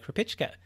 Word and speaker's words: Krupicka: so let's welcome to the show today anton herpich ken thanks for being on the show thanks for